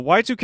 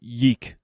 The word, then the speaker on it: YIIK: game that this is so y2k is an rpg or it's spelled in roman numerals so for a long time i pronounced it yeek i thought it was yeek it's a retro rpg